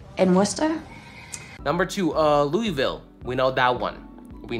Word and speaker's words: Louisville: Worcester number two uh Louisville we know that one we know it's French so when you see Lewis it's actually not Lewis it's actually Louie Louisville like Louis Vuitton right Louisville my wife